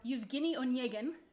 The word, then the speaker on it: Evgeny Onegin: For those of you who are familiar or who aren't familiar with the story, Eugene or Evgeny Onegin, took me about 4 years to learn how to pronounce that correctly.